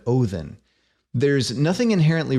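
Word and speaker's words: Óðinn: ought to be pronounced the word Odin is an anglicized borrowing taken from the old Norse word othen there's nothing inherently wrong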